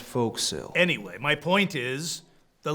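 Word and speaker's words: forecastle: uh what's that thing called the uh the for Castle it's pronounced folk sale anyway my point is the lay audience wouldn't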